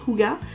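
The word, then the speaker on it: hygge: le livre du houga ça s'écrit higuain mais celui-ci ça se prononce kuga 1 ça a été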